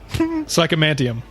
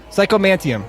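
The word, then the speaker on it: psychomanteum: all right how do you say it again psycho mantium psycho mantium psycho mantium all right the psycho mantium whatever what is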